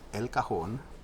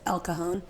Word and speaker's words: El Cajon: Lou Almighty is not here, but I am in El Cajon. Why you gotta say it like that? Like what? I mean, us normal people say it as El Cajon. Oh, so I'm not normal? El Cajon.